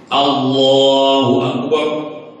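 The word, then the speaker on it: الله أكبر: Pedoman pertama baca sesuai tajwid. Allah lam jalalah matnya mat tobi'i ya. Berarti satu alif. Allahu Akbar.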